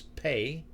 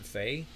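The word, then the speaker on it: פּ: So this is pay. That's what the dot is. Pay, not fei.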